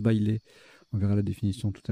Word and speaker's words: bailé: Bailé, B-A-I-L-E, qui est un nom masculin qui se prononce bailé.